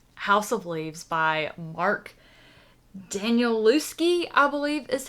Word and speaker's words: Danielewski: So in the month of November, I called it quits on House of Leaves by Mark Danielewski, I believe is how his last name is pronounced.